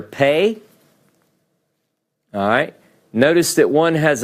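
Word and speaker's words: פ: alright doggish means piercing if you see it with the doggish it's pronounced with a hard sound it's pronounced as a P all of these are referred to as the letter pay P sound if it doesn't have a doggish in it it's pronounced with an F so it would have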